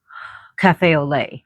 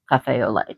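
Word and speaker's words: café au lait: Or maybe a cafe o cafe olay. I almost said a lot, but it's pronounced olay. spelled a lot, but it's pronounced Cafe Olay.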